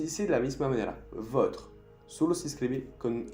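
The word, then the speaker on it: vôtres: Le o la votre, masculino o femenino, votre, votre, y plural con un S, pero se dice de la misma manera, votre.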